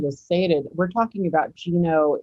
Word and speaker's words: Ginobili: guess i should have stated we're talking about geno it's that how i pronounce that that's right ginobili and he's the chairman of the board right